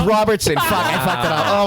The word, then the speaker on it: Robertson: Oh, did I say Robertson earlier? Robinson? Did I say it wrong? Robinson. I said, it's Robertson.